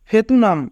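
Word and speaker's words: 베트남: থিউত প্রথমে থাকলে থ, উ রাষ্ট্র থু, ইয়ং উপরে থাকলে ইয়ং এর উচ্চারণ হয় না, আ নিয়ন নিচে থাকলে তার আন। থুয়ান। ফেতুনাম ভিয়েতনাম।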